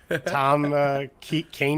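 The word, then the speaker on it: Kean: There's just 2 guys from New Jersey disagreeing: Jesse Marsch, Princeton grad, and Kane University. Attaboy. You got it right. There you go. I got the pronunciation right at the last second.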